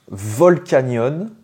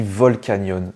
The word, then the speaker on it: Volcanion: donc Giratina Pokémon suivant est-ce qu'on le prononce volcanion ou bien volcanon et bien ça se dit volcanon c'est un mélange entre